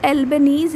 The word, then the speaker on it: Albanese: लेकिन अभी मैं यहाँ पे नाम बोल रही हूँ, एल्बनीज़ यानी ALBANESE, ऐसे करके इनका नाम है, तो इसको आप सही कर लेंगे यहाँ पे।